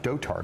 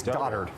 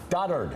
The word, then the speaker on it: dotard: Oh, I should say also, by the way, it's not pronounced Dotard. I've been informed by Twitter. Okay. It's Doddard. Doddard.